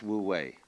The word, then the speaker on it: wu wei: And then with this character this is pronounced This one is woo and this one is way. Woo way.